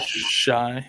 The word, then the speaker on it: Shi: Shi Smith? Shy, yeah.